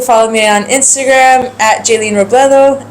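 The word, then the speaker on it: Jaeleen Robledo: So nothing official yet, but you can follow me on Instagram at Jaylene Robledo. It's spelled JAELEEN.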